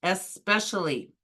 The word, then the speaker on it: especially: Don't be fooled by this word by comparing it to expect or exception. The correct pronunciation is especially.